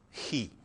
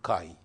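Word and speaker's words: χ: This is Greek letter he, which in America is pronounced chi.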